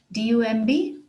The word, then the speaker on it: dumb: Dumb is another word with a silent B in it. D-U-M-B, dumb, dumb.